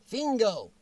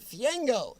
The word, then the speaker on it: Fiengo: Okay, Jennifer Bearden thinks Robert's last name is pronounced Fingo. Robert, which is it? How do you pronounce your last name? Okay, oh, I pronounced it right. I scanned down Jennifer. I caught Robert answering me. It's Robert Fiengo. Robert J. Fiengo. So it's not Fingo.